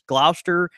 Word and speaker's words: Gloucester: Mississippi you know but but we don't say them like that it's Glouster and Inverness you know it's same